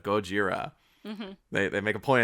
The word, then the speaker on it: Gojira: And he even mispronounces the name as Godzilla instead of Gojira.